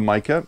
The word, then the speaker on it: Micah: Now, keep an eye out for Micah.